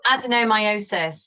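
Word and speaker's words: adenomyosis: a really distressing symptom and does HRT affect adenomiosis is that how you pronounce it oh adenomiosis yes thank adenomiosis yeah so adenomiosis is where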